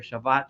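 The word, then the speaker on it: Shabbos: me I'm going to use the shabas my traditional way ashkanazi way of pronouncing it but for those that want to call it Sabbath or Shabbat just know what I'm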